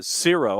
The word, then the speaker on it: Xero: And so Zero, I guess is how you pronounce it with an X, like zero with an X, like Xerox.